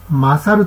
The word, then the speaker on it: 神猿: その名も、神猿と書いて、マサルと読みます。